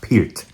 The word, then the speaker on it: Peart: Neil Peart himself, and it's pronounced Peart pronounced Peart, not Pert like other idiots in on the internet. It's pronounced Peart.